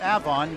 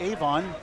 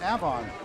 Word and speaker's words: Avon: still a terrific bowler Avon Valley Lanes is pronounced Avon we say Avon like Avon Massachusetts but it's pronounced Avon some would say Avon or Avon it's Avon